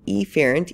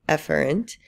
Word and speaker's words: efferent: and a efferent, and I'll just be really pronouncing those E's and A's so it's clear. So efferent, even though we would say efferent, and this is also called our motor division.